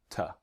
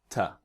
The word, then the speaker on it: to: is the strong pronunciation the weak pronunciation is ta all right try with me ta it's very simple right